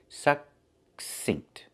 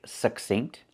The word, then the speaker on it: succinct: Remember, with these words, you see the double C, we pronounce the first C as a K and the second C as S.